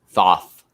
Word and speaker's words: Thoth: you professor thoth thoth thoth that's why i forget his name because i can't say his name it's like hoth but with a t uh task master four